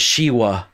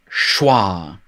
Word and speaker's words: schwa: for the first time i pronounced it she wa it's not shiwa it's schwa and it really it